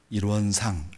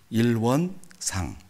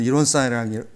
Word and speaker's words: 일원상: 하나 그 제 스스로 어 팁을 하나 얻은게 아 앞에 강세를 조금 앞에다가 두면 뒤에가 약하게 발음 나오겠구나. 그래서 일원상 이렇게 발음하려고 연습을 많이 했습니다. 음. 백사님 오늘은 이원 쌍 쌍이라고 몇 번 하는지 예.